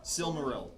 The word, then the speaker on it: Silmaril: Yeah, so Silmaril. how do you pronounce that? Silmaril. Silmaron? Silmaril.